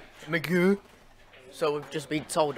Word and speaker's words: McGeoch: So it's McGeer. Yeah. Like MacGyver. Not really like MacGyver. Magoo.